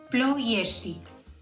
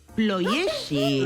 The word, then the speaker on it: Ploiești: Una vez más, ¿cómo es la pronunciación? Ploieti. Ploieti. ¿Verdad? Es Ploieti, correcto, ¿no?